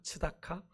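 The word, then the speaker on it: צדקה: 츠다카. 근데 여기서이 공이를 기대했는데 이스라엘이 맺은 열매는 뭐였어요? 부르짖음이었어요. 부르짖음이 뭐예요? 치아카. 예. 디귿이 빠졌어요. 그죠? 예. 발음이 비슷합니다. 근데 뜻은 정반대죠. 발음이 아주 비슷한데 정반대 이런 겁니다.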